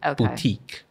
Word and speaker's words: boutique: Boutique. It's the stress on the E, right?